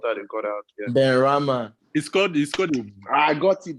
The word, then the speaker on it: Benrahma: If I pronounce his name wrong, now Benarama, what that they got out here. Benrahma.